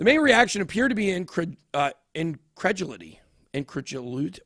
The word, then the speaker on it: incredulity: The main reaction appeared to be incredulity. Incredulity? How do I pronounce that word? Where is it? Incredulity? Incredulity, I guess. No, it's not a luity. There's no U.